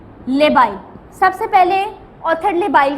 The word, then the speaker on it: labile: Okay, अब इसके अंदर आपके ऑथर ने लिखा है जो आपके जो लेबाइल, स्पेलिंग क्या है? LABILE, लेबाइल।